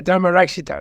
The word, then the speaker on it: Dharmarakshita: How do you pronounce that? Yeah, Dharmarakshita, that's right.